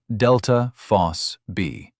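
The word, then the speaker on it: ΔFosB: It's a protein called delta phos-B, pronounced delta phos-B.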